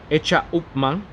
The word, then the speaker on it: H. Upmann: Señor Garcia is the managing director of the Menendez Garcia Isiao Limitada, which manufactured the world-renowned H. Upmann, pronounced in Spanish, Hecha Upmann, and Montecristo cigars.